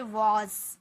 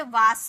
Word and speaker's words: was: Next है WAS, इसे हम बोलते हैं वॉज। वॉज, बहुत सारे स्टूडेंट से वास बोलते हैं, वास, सौ का साउंड निकालते हैं वास, तो गाइज वास नहीं, वॉज।